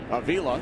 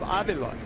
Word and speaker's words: Avila: organization including Pedro Martinez his son and grandson pronounced their last name Avila yeah interestingly mhm and Ralph who is from Cuba still pronounces his name in the original Cuban pronunciation of Aila full count with two